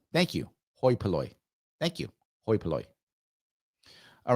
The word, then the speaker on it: hoi polloi: So it's pronounced hoi polloi. Thank you. Hoi polloi.